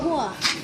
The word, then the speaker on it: João: Desafio pra cá, pra mim, pra Juan. Galera, só lembrando que o nome dele é Juan, mas se escreve João, por isso que eu botei João lá no canal lá. Ó, escreve com J.